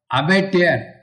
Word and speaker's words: abattoir: That is called abattoir. A-B-A-T-T-O-I-R. That is a building where animals are butchered means it will not be one animal or two animal.